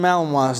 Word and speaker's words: Malinois: called belgian malinois and it's not spelled like it sounds just so you know belgian melon wants these dogs are bred